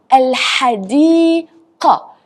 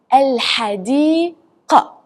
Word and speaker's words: الحديقة: It's not like k, because it will change the whole meaning, like in some other words. So you need to pronounce it hard. الحديقة. الحديقة.